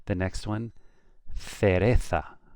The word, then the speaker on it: cereza: The next one, cereza, with a TH sound, cereza. If you're from the south of Spain, from the Canary Islands, from Mexico, from Peru, it's going to be cereza.